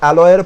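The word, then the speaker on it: allow: আর অ্যালাউয়ের পরে কোন কেস বসবে, অ্যালাউ। উচ্চারণটা কি হবে, অ্যালাউ। লাউ, সবজি দেখেছি তো, লাউ কুমড়ো, তো লাউ উচ্চারণ হবে লাউ, অ্যালাউ।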